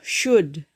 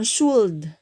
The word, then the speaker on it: should: nah Sebaiknya dalam bahasa Inggris itu shoot ya bacanya bukan should tapi langsung gede l-nya itu agak-agak agak gak kedengeran gitu shoot ya Nasa ada